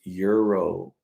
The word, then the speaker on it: gyro: or Gyro gyro gyro oh no dude it's Euro then why do you spell it with a G and a y if it's Euro so yeah that's my